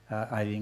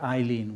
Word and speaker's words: Eileen: The French have a lot of difficulty pronouncing the word Eileen with an E, I-L-E-E-N. To make that sound in French, it would be spelled A-Y-L-E-E-N. So French people think it's Hélène.